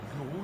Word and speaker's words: guru: Cybergurou. Ça s'écrit guru. Voilà. Gourou.